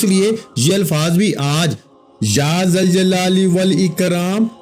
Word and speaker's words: یا ذوالجلال والاکرام: اس لیے یہ الفاظ بھی آج یا ذوالجلال والاکرام، یا ذوالجلال والاکرام، بعض لوگ اس کو کسی اور طرح پڑھتے ہیں، لیکن آپ کو جیسے تلفظ بتا رہا ہوں اسی کے مطابق پڑھیے گا، اسی ترتیب کے ساتھ.